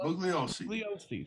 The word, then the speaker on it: Bugliosi: How do you pronounce that? Bugliosi.